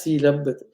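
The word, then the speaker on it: sīlabbata: So if you have Sila Bhata, Sila plus Vruta is pronounced as Sila Bhata.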